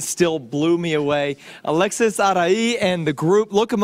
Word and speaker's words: Arai: alexisa spelled a-l-e-x-i-s-a-r-a-i music i always spell that because some people can't really pronounce arai some you know they go eerie but it's all right yeah